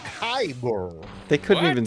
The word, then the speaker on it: kyber: Lounge on the Disney wish has a $5,000 kyber it's not even spelled right crystal drink is